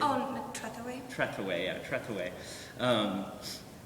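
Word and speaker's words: Trethewey: of the poet Trey help me with the pronunciation oh treway treway yeah treway um it's been really inspiring and we worked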